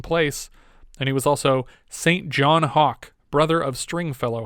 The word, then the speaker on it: St John: and uh st john what is it saint john or is it sinjin saint john okay unless shinjin is spelled saint john it is then sinjin and stringfellow which is